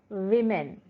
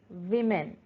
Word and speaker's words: women: See as pronunciation, woman, oh, woman. Here, women, women, not woman.